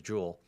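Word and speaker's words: Jule: So round 4, and apparently I've been calling her Julie, and her name's Jewel.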